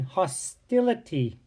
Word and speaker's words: hostility: Well, when you add the ITY to hostile, it changes the long I, hostile, to a short I in hostility. That's right, hostility.